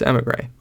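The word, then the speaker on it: émigré: I was saying Emigre before. Totally wrong. It's Emigre because they're emigrating from the Eerie.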